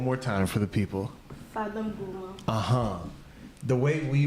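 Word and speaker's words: Fada N'Gourma: Family in the Fadon Gourmand of Burkina Faso with the revenue from ourselves. You see, just the way you pronounced. Say it one more time for the people. Fadon Gourmand.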